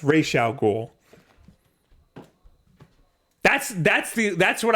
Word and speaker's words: Ra's al Ghul: never have known well they pronounced his name wrong in the Christopher Nolan movie yeah where they call him Ra's al Ghul it's racial cool that's that's the that's